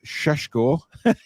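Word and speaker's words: Šeško: Love it when Paul says Sheshko. Well, I have to say it right, or else I'll get wrong off Alex.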